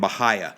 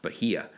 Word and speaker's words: Bahia: Augustine grass centipede zojja and Bahia that's an pronouncing along it's supposed to be pronounced Bahia but you guys warm season temps when when